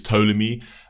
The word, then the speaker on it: Ptolemy: call yourself ptolemy right i think it's actually a silent p it's ptolemy uh ptolemy was um he